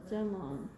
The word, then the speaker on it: jamón: You can see the accent on the O. Jamon.